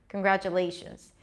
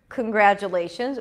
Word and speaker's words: congratulations: okay t o n the primary stress is always going to be the one syllable before the suffix okay in this case